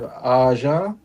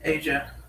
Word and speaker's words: Asia: We have Aza, if I'm pronouncing that right. Asia.